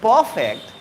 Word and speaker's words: perfect: make you perfect see while speaking perfect i never sound r where is the r in the perfect yes we have to